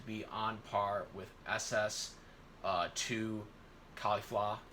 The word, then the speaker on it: Caulifla: He was able to be on par with SS2 Caulifla. I'm going to say it like that, by the way, because that's how the English dub says it.